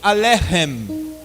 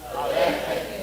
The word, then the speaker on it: Alechem: A palavra Alechem ali está escrito com a letra CH. Mas vocês devem pronunciar como se fosse um RR, como na palavra carro, bem forte.